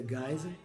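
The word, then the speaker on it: Geisel: ver depois né e se escreve geisa mas pronuncia gás passou a comprei porque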